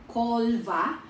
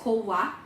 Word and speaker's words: Colva: Malapit po siya sa Cova or Colva, pero ang pronunciation nila is Cova, Margao, sa Goa po yan.